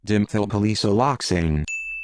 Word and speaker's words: dimethylpolysiloxane: This word looks like this and is probably pronounced dimethylpaloxylexane. Dimethylpaloxylexane.